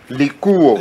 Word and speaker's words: Likuo: Likuo. Vous prononcez ça en français. C'est Likuo. Merci beaucoup. C'est un nom mongo.